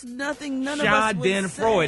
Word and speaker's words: Schadenfreude: You're acting so Schadenfreude. No, it's phonetically spelled out for you. How to pronounce it. But that's nothing none of us would Schadenfreude. say. It's 3 syllables.